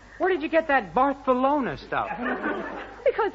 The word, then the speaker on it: Barcelona: mean I mean to barthelona that's where he wants to go where did you get that barthelona stuff because in Spanish the CE is always pronounced as s oh it's that so